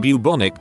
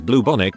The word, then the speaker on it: bubonic: I privately alerted him to the fact he was saying bubonic plague as bluebonic plague.